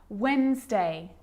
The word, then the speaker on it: Wednesday: that's the silent c so what about the letter d yep it can be silent too wednesday handsome sandwich so i'm